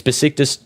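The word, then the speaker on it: Beşiktaş: It's Besiktas.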